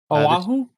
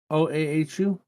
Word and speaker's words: Oahu: Oahu? OAHU?